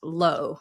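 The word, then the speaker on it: luo: Now, y'all, this is spelled L UO, but pronounced low, like the opposite of high.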